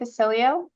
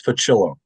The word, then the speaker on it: Facilio: Facilio. did I pronounce that correctly? Close enough. It's Facillo.